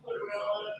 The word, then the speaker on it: Tortorella: What do you think of Joe Tortorella, that's how you say his name, coaching of the team that they have, the Flyers now, like with those guys that they have?